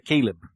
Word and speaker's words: Caleb: É isso, acho que a pronúncia é Caleb.